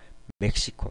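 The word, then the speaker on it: México: 이런 식으로 발음이 됩니다 하지만 예외적으로 멕시코 나라 이름이죠 멕시코에서는 히읗 럼 발음이 된다는 거 예 멕시코만 거의 그래요 뭐 간혹가다가 어 다른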